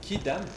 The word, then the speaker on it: quidam: kidamant tout le monde qui dam oui ah non on n pas alors on prononce quidam mais non mais moi